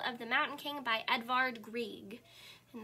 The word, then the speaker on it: Edvard Grieg: the mountain king by edvard grieg and that's how you say his name edvard grieg okay so i have